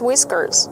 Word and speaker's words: whiskers: How do you pronounce whiskers? Whiskers. The H is silent and we use the short I sound like this.